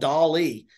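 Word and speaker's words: DALL-E: an AI based image generator a program called Dolly it's spelled like Wally the movie um but it's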